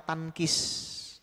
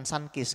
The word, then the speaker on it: tankis: Padahal di dalam ilmu qiraat ini kurang bagus, namanya tankis, bukan sankis. Kalau sankis itu jeruk, ini tankis.